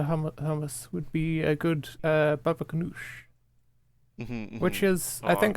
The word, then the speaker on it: baba ganoush: Baba ganoush. Baba ganoush. You gotta put a Wow. bit of stink on that last syllable.